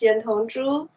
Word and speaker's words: Yantong Zhu: the bright side all the way from china yangtong joo i hope i pronounced that correctly how are you ma'am hello hello hello hello hi um yes my name is yan hong zhu i live in beijing um i've never been